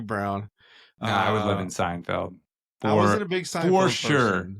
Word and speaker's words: Seinfeld: a Hispanic, not too many Hispanics were watching Seinfeld. So, I don't think I say it right. Is it field?